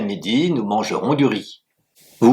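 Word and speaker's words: 米: et le ri se dit mi. M I trè ton et s'écrit de la manière suivante.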